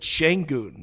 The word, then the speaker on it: Şengün: I noticed you said Şengün. Is that, if I've been saying it wrong, Şengün? Apparently that's a thing. I say Şengün, but apparently all the people who are like making an active effort to pronounce it correctly, Şengün. Şengün. Okay, so I will correct myself and say it right from now on.